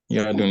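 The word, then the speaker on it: يَدٌ: Yadun. Don't elongate the ya, just say yadun.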